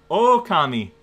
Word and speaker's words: Okami: don't know anything else oh that's how you pronounce the game oh kami oh kami with an